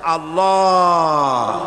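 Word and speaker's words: الله: পাকের নামের উচ্চারণ হচ্ছে আল্লাহ মুখটা একটু গোল হয়ে যাবে বলেন আল্লাহ আল্লাহ সুবহানাল্লাহ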